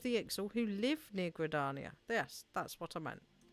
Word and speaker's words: Gridania: I it's like um it's gradania not gradania and I keep sangradania